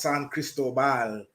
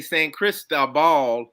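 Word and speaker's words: San Cristóbal: to Joelle Jordan and he says it's pronounced San Cristobal well I I used to say Saint Crystal Ball but uh I I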